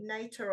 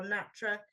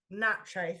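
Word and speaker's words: NATRE: Um and she's part of I don't know how you pronounce it Nikki Nater or Natra Natra thank you the National Association of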